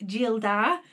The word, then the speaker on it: Gildar: So Castle Gildar, pronounced Gildar, has evolved into a fully fledged online shop with our own labels.